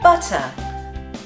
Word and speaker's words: butter: Another general distinction is that the Brits will pronounce T's in the middle of a word like a T, whereas Americans might change them to a D. Hmm. For example, butter.